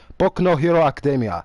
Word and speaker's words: Boku no Hero Academia: So the correct pronunciation is Boku no Hero Academia.